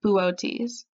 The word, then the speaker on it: Boötes: Now written out, it looks like the word boots, but it's actually pronounced Boötes.